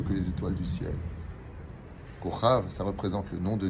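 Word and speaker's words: כוכב: Kochav. Le mot Kochav s'écrit Kaf, ça fait 20 en compte numérique, chaque lettre étant empreinte d'un chiffre, et le Vav, ça fait 6.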